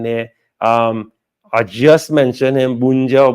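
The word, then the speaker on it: Bounedjah: I just mentioned him, Bunja or Bunja.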